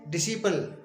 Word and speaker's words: disciple: इसी तरह से डिसिपल, DISCIPLE, डिसिपल। डिसिपल means शिष्य। इन सभी शब्दों में सी से पहले एस आया है तो हमने इन सभी शब्दों में सी का उच्चारण नहीं किया है।